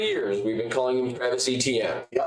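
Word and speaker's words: Etienne: It's ETN. Open. We're just pronouncing every syllable. Got it. And then for the next X amount of years, we've been calling him Travis ETN.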